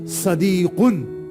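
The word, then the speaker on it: صديق: इज a driver हा सदीकुन हादा सदीकुन देखिए ये साद है एक आता है सीन ये साद है प्रोनाउंस प्रोनाउंसिएशन देखिएगा हादा सदीकुन this is a friend boyfriend.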